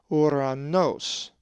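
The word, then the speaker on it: οὐρανός: A Greek word that has the omicron epsilon is uranos, which means heaven, and is number 3772. The accent is over the second omicron, and it is pronounced uranos.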